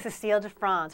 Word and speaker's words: Cécile de France: Christy, you're pronouncing that right? Cécile de France, for those of you keeping score at home.